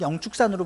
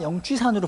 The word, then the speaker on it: 영축산: 근데 불교계에서는 공식적으로 그 조선시대에 쓰여진 법화경을 한글로 번역해 놓은 그 경전을 읽다 보면은 영취가 아니라 뭔가 발음이 사실은 정확하진 않지만 영축산 이렇게 읽힐 수 있는 글자로 쓰여져 있어요. 그래서 이게 축자로도 읽힐 수 있고 취자로도 읽힐 수 있기 때문에 축이라고 읽자라고 이제 대체적으로 이제 합의가 된 상태입니다.